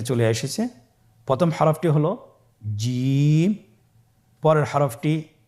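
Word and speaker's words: ج: চেষ্টা করুন হয়ে যাবে এর মাখরাজ হলো জিহ্বার মধ্যখান তার বরাবর উপরের তালুর সঙ্গে লাগিয়ে উচ্চারিত হয় আপনারা পিকচারে ছবিতে দেখতে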